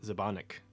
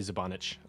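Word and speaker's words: Žbanić: And then they signed two directors for two different episodes, Ali Abbasi and Jamila Zabanik, or probably Zabanich. I'm thinking is how you probably pronounce that.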